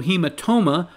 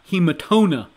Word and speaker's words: hematoma: It's parietal, not parietal, and it is also hematoma, not hematona.